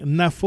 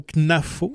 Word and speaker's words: Knafo: nom de famille je c'est soit Julien NAFO au Knafo en tout cas c'est kn N a FO euh on n pas réussi à avoir cette information là mais euh j'ai j'ai quand j'ai entendu c'était Knafo ouais mais j'ai pas